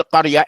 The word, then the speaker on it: قرية: Look at this word قرية as a qaf. qa. Then after the qa there's a ra. You're going to say qa, qar, قرية, قرية.